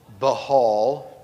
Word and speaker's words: Baal: This behal as it's supposed to be pronounced, but Baal, which is what I grew up saying, so it's what I'm going to keep saying.